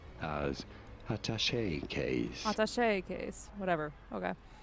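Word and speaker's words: attaché: In French it is said as atache in English atashe in British English with an emphasis on the first syllable atache case in English. However, it is usually said as ataché case with an emphasis on the third syllable of attache atash orach.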